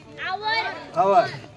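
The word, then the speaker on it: hour: अगोदर आता तासाला काय म्हणतात इंग्रजीत तास तास आवर त्याचा स्पेलिंग काय एच ओ यु आर एच ओ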